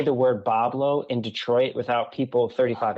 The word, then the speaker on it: Boblo: the pronunciation interestingly enough the pronunciation of pablo comes from the french white wood wah blanc um because you know